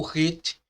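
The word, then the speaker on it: ח: O RET tem um som de H fortemente aspirado, semelhante à pronúncia do J em espanhol, hijo, tá bom? Hijo, filho, tá bom? Como no substantivo próprio Júlio, né? Julio. É transliterado por um H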